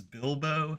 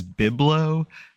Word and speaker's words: Bilbo: in that one video Ashley pronounces Bilbo as biblo about 100 times and you preface it